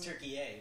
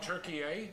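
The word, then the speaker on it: Türkiye: know that oh yeah turkey did change the pronunciation of their name turkey a now for the West it's called turkey a yeah because they didn't want to be a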